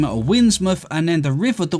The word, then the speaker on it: Windsmouth: Anything else would work, but at least in English tradition, town or at a river's mouth tend to end in muff. Now, or mouth, but muff is pronounced.